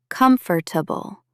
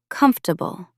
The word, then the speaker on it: comfortable: Many people say it as comfortable, 4 syllables, but natives usually say it faster, closer to comfortable, 3 syllables.